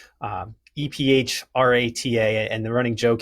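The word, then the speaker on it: Ephrata: uh a town in South Central Pennsylvania that's pronounced Epha. Um EP h a ta. And the running joke here is anybody that's not from here will call it Ephrada.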